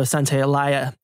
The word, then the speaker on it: Santaolalla: I realize I mispronounced. It's Gustavo Santaolalla.